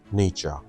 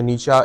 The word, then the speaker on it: Nietzsche: नाम है फ्रेडरिक नीचा नीचा को नीचे भी बोलते हैं निश्चय भी बोलते हैं बहुत से लोगों को मुख्तलिफ तरीको से मैंने इसे प्रोनाउंस करना सीखा है देखा है लेकिन फ्रेडरिक नीचा को मैं नीचा इसीलिए बोलूंगा कि जर्मन भी इसको नीचा ही बोलते हैं तो इसका नाम जो